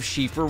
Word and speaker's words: Siofra: in your exploration of shifa river and maybe you learned how to pronounce shiffer river for yourself if there's